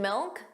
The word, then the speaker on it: milk: And milk sounded like milk. So did you hear that? The final K sound, that C was not pronounced. It was just a milk. Milk. So you put your your tongue in the position of a K. Milk. But you just don't push out that sound.